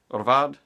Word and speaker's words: Hvad: H-V-A-D, which means say what in Danish? Orvad, and it also sounds kind of like Orval.